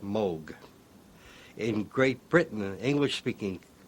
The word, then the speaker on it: Moog: and English-speaking countries uh people see the double O and they say moo I just happen to like the sound of Moog better than M part of my family pronounces it one way and part pronounces it the other way some lose